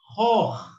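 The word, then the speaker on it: خوخ: And here you've got, it's Khu or Kho, by the way, in this word. And the Waw elongated, so it's Kho. And you've got here another Kha, which is silent, so it is Khoch.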